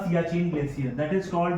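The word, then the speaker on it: Siachen: तो यहां पे हम देखेंगे तो आपको यहां पे जो रीजन मिलेगा ये वाला ये वाला reason that is called the सियाचीन glacier.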